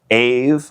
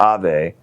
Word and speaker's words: Ave: I'm your host, Ken Baden, and today we're in studio with MJ Maryori Jones of Ave, which is the English pronunciation, or Ave, which is the Spanish pronunciation of your clothing brand.